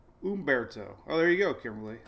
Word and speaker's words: Humberto: E, no, I just remember E. Even though it's an I, it's pronounced with an E. Umberto.